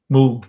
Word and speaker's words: Moog: Uh, the Moog was, and it's pronounced Moog, not Moog.